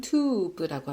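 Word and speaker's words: טוב: 히브리어 사전을 통해서 보도록 할게요 글씨는 요렇게 생겼고 발음은 튜브라고 합니다 튜브 발음이 이렇게 중요한 건 아닌데 궁금하실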